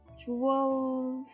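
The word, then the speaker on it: twelfth: with the f 12th 12th it doesn't work so we don't pronounce the f we just skip it for example if you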